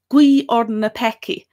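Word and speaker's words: guígh orainn na peacaigh: So pray for us sinners is gui orden na peki.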